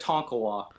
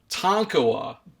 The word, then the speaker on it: Tonkawa: is it pronounced does it was the proper pronunciation it's at Tonkawa Tonkawa yeah not what was I was I was